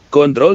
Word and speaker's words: kontrol: ketiga yaitu fungsi kontrol hati-hati ya dengan pengucapan kata kontrol Jangan sampai hilang huruf r-nya kontrol dalam bahasa Indonesia artinya